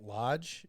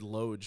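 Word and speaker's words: Loj: the high peaks Wilderness I feel like you still say it Lodge it's just spelled wrong lodge because he wanted it phonetic I guess yeah Lodge I said it wrong yeah I said LGE for some reason I don't know why probably because he didn't spell it right yeah because he's just phonetic spelling it's LJ but it's supposed to be Lodge so his initial route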